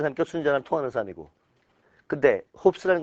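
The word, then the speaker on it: Hobbes: 홉스. 리을이 홉스인줄 알았으면 좀 훌륭한 거야. 홉스. 홉스 써봐. 홉지라고 읽기도 하는데 내가 홉스라고 했더니 누가 또 나도 무식하다 그러더라고. 나 그냥 홉스라고 읽어. 근데 홉지라고 읽는 사람들도 있어.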